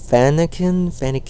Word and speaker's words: Fennekin: It is actually pronounced in a way that I cannot pronounce it very well. It's Fennekin. You tell me how to pronounce it. It's Fennekin.